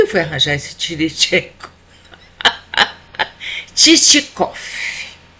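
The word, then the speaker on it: Чичиков: Titicof com um v no final que tem um som de f e quando a gente pronuncia.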